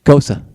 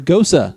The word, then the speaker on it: Gose: we have uh yes the thing i keep mispronouncing ghosa see and i even mispronounced this pronouncosa it's a gosa that's right i ain't afraid to